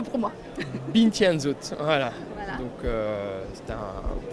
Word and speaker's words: Bintje & Zoet: Donc, prononcez-le pour moi. Bintianzot, voilà.